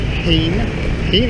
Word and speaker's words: Hien: Went back to the little bar where I met Hien, I think that's how it's pronounced.